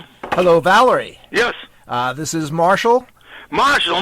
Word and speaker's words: Valery: My name is spelled with Y at the end instead of I-E for female, spelled with Y, and it's pronounced Valery.